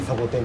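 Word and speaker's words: 王樹: いう字が王樹と書いてサボテンっていうのがうち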